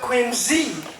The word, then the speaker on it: Quincy: was called Quincy now the family name of Quincy is is very very easily said Quincy but originally it was not Quincy but quiny and it was spelled with as if it was spelled with a z now there were 19